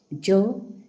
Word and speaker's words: yo: अच्छा Y to J sound होबो. That means जो pronunciation होबो. Oh. अच्छा जो. Dihe la vardet. Jo dihe la vardet.